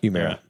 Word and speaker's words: Humira: Humira? Humira.